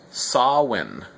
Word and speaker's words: Samhuinn: let's first talk about the word itself so sawin saw when the interesting thing about